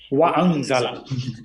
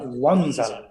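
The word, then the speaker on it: وَأَنْزَلَ: হ্যাঁ, ওয়ানজালা বলা যাবে না, এই আলিফকে উচ্চারণ করতে হবে ওয়া আনজালা।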